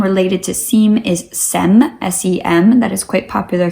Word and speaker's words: Sem: You spell that S-I-E-M. And the other name related to SIEM is SEM, S-E-M.